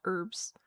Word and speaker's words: herbs: Um I do pronounce them the traditional American way of herbs.